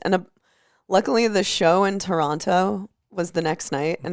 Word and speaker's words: Toronto: Yeah, someone told me that the way I say Toronto is wrong. Yeah, it's Toronto. Toronto. Sorry that I pronounce my T's.